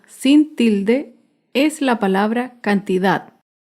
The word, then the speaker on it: cantidad: tilde es la palabra cantidad. Cantidad se acentúa en la última sílaba, pero no lleva tilde porque no termina ni en vocal ni en las consonantes N o S.